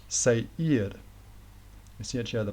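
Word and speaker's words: Seir: location spelled s-e-i-r but you might pronounce that like um say ear I see each other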